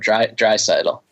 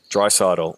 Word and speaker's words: Draisaitl: a lot of us a little bit more emphasis on the first part in addition to the last part dry settle dry subtle and building at I